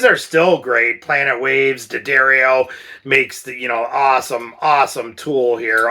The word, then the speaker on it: D'Addario: But as the years went by, D'Addario, I always want to say it wrong like we all do, D'Addario, started to come out with these awesome string